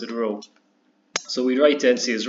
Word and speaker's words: rho: kind of like a stretch T and it's ro that's how you pronounce it ro so we write NC as Rho equals n